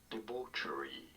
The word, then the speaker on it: debauchery: normally pronounced as departurey you don't want to stress on the second syllable debauchery in american english however